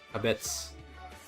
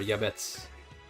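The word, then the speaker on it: יעבץ: It's pronounced chabetz. Pronounced chabetz or yabetz. Hebrew.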